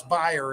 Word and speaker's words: Bayer: It's down in sympathy with Bayer, or Bayer, as people pronounce it, Bayer aspirin. It's Bayer if you're German.